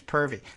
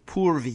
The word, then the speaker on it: Purvi: Her name's Purvi. P-U, Purvi. You really have to pronounce that right.